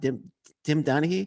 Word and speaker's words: Tim Donaghy: Tim Donaghy. Is that how you pronounce it? Tim Donaghy.